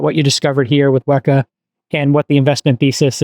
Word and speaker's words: WEKA: having me so wak is pronounced as any Greek unit so you probably know